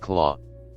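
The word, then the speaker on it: Klaue: Now it doesn't even have that thanks to the thieving Ulisses claw pronounced claw.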